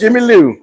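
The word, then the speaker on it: Jimi Lou: Ji is J M I Lou. Jimmy Lou. Oh, is that how you pronounce? That's Jimmy Lou.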